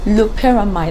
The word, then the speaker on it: loperamide: Or, like, then we later got to realize that it was trying to pronounce loperamide.